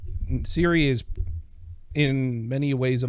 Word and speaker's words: Ciri: Geralt of Rivia, comes upon his adoptive daughter, Ciri. Mm-hmm. Cirilla is her full name. Yeah. Spelt with a C, not Yes, like- Ciri.